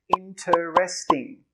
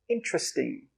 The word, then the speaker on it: interesting: It's interesting. Well, in Australia, we pronounce it interesting. Interesting. I know it looks like it should have 4 syllables, but it actually has 3.